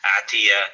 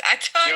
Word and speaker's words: Atai: He's not Atiyah. He's not Arab, brother. Don't try to Arabize everything. It's Atai.